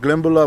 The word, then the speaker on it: Glenbeulah: And we're here at Glenbula, Wisconsin, and we're going to check this cemetery called Walnut Grove Cemetery.